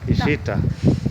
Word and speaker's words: Ishita: Is that the right pronunciation? Ishita. Ishita.